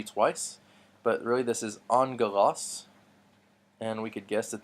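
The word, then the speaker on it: ἄγγελος: OS angle loss and so we remember those two G's making in G those two gama's make an NG sound we mentioned this before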